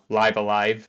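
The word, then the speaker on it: Live A Live: But two, this is really similar to what we would later see in the game Live Alive or Live Alive as it's technically supposed to be pronounced.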